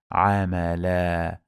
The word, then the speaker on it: عملا: Because we are gonna stop here. We're gonna pause here. We're gonna rest here. So we are gonna pronounce it like this. Amala, amala.